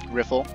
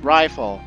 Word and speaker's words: Riffle: just peachy now right riffle hey you private second class my name is pronounced rifle rifle it's not that